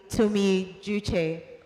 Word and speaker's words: Tumi Juche: So the correct pronunciation, I hope that by pronouncing your name right, you forgive me. The correct pronunciation is actually Tumi Juche.